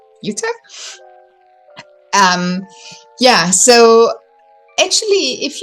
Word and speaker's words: Jutta: my name is pronounced Utah kind of you can remember the state in the US like Utah um yeah so actually